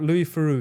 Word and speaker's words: Louis Theroux: If you've never seen it, look up Louis Theroux. His name is pronounced a bit weird.